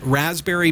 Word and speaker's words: Raspberry: head on over to raspberry pi dot org don't forget the silent P in there rasp berry pie dot org and as